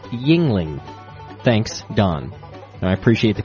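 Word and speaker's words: Yuengling: Youngling is not pronounced Youngling. It's pronounced Yingling. Thanks, Don. I appreciate the correction. He's from Pennsylvania. It's spelt Youngling, but I guess you're supposed to say Yingling, which sounds much more Asian to me.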